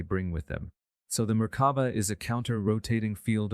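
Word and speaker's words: Merkaba: came from ancient Egyptian it is seen in other cultures as maraba maraba and marava there are several pronunciations but generally you pronounce it as if the three syllables are separate with equal accents on each Mar refers to a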